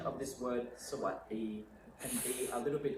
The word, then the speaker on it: สวัสดี: So you can see I'm spelling it W-A-T-D-E-E. So when you say it, you kind of imagine there's a T there, but you don't have to say so what, so what, so what.